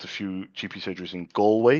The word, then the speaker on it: Galway: And then I name dropped a few GP surgeries in Galway. You pronounce it Galway. I used to pronounce it Galway before I had customers there.